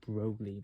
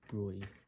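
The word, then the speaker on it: Broglie: I'm always um given my American nature, I'm always um I always feel like I have to pronounce it roguey, but apparently it's brewy, right?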